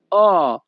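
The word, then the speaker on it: ho: হবে অবিজনীয় দি উল্লাভরু ইতালিয়ান ভাষাতে এইচ ও এর উচ্চারণ হবে হবে অ ইতালিয়ান ভাষা অবিজনীয় দি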